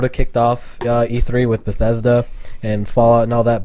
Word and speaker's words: Bethesda: Bethesda. Bethesda. Okay. It's pronounced exactly how it looks.